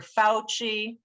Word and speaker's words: Fauci: the nih we've got dr fauci where the stressed syllable is that ow in the first part of his name it sounds like brown cow and we have dr